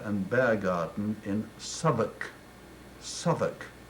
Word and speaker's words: Southwark: bear garden in Southwark Southwark then pronounced south walk which is what I'll